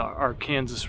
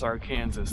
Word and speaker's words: Arkansas: say kansas like kansas they say the state of our kansas lake arkansas and then they say that our kansas river is our kansas they have two pronunciations for the same word people think i'm weird